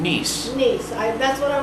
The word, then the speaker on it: Niec: and how do you say your last name niece niece I that's what I wasn't going to